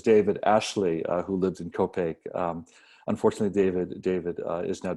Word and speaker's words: Copiague: thing about living in copaque is that everybody says where is it it might it rhymes with cupcake so we thought we'd do